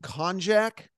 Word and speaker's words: konjac: Now, the actual substance, and correct me if I pronounce this incorrectly, is called konjac.